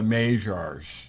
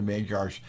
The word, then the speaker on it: Magyars: just a little bit magyar's m-a-g-y-a-r-s the magyars they're also called the majors I tend to be a little bit obtuse in my pronunciation so I say the magyars but they could all be called the magiars any any event they're